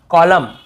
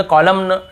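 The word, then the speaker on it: column: को नहीं पढ़ना है जैसे ऑटम कॉलम डैम हाइम तो यहां पे हमें ऐसे ऑटम कॉलमन डैमन ऐसे हाइमन ऐसे नहीं पढ़ना है ठीक है क्लियर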